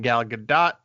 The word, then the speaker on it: Gal Gadot: Starring Gal Gadot is the pronunciation we're going to go with.